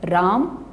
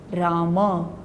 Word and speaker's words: राम: बोलना चाहिए राम एम बोलने के बाद होंठ खोलेंगे जिससे अन की ध्वनि बाहर निकलेगी और वर्ण और उसे शब्द का उच्चारण सही होगा अब दोनों सुनिए राम यह गलत राम होंठ खुले तो मौत